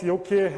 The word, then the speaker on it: Youki: been possible without the great work of the Yoki developers which they told me they've been watching. So I want to give a round of applause to Yoki developers. Thank you. So what's Yoki?